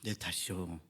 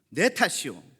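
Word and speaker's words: 내 탓이오: 오늘의 본문의 제목이기도 한데요 아 발음을 좀 잘해야 됩니다 예전에 천주교에서 했던 아 내 탓이죠 이런 캠페인이 아니고요 내 탓이요 예네 탓이라는 거죠 우리의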